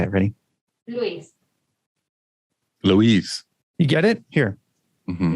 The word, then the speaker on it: Luis: Luis. You get it? Here. Mm-hmm. Luis.